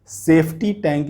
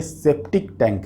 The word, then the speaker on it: septic tank: बहुत सारे लोग, इवन कई सारे यूट्यूब वीडियो में भी मैंने देखा कि लोग सेफ्टी टैंक इसको प्रोनाउंस करते हैं, लेकिन ये सेफ्टी टैंक नहीं है, ये सेप्टिक टैंक है।